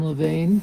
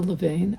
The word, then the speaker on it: Levain: um he loves the oatmeal raisin cookies from Levan do you guys know Levain oh my God I don't know if I'm pronouncing it correctly l e v a i